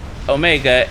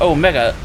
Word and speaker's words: Omega: I think it should be Omega because it's literally O for Omicron, small o, Omicron, and O for Omega, big O, Omega. It's a mega O, so should it be pronounced Omega and not Omega?